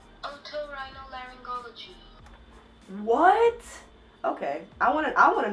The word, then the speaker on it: Otorhinolaryngology: This is how you say it. Otorhinolaryngology.